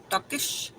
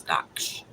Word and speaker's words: Daksh: Which one? Daksh or Duckish? So 1 or 2. 1 is Daksh. Duckish is 2.